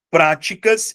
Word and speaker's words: práticas: Práticas passa a ter como sílaba tônica a antepenúltima sílaba.